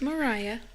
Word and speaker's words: Mariah: go Cowboys let's go is it Mariah Mariah or Maria no it's Mariah okay are they spelled